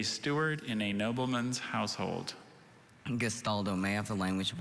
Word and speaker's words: gastaldo: is correct hello hi abby last gastaldo gestaldo may i have the definition a steward in a nobleman's household gestaldo may have the language of origin it's from